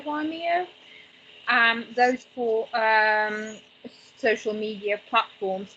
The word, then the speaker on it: Vimeo: Video sharing, best is for YouTube, TikTok, Periscope, and I can't pronounce it, Vimeo. Say Vimeo.